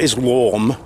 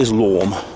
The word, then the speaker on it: Islam: But that dictatorial one world government is Islam, or Islam, as Douglas Murray pronounced it, Islam.